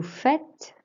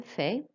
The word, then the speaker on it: fait: You'll notice for il, elle, on fait, it's pronounced exactly the same as if it was je or tu.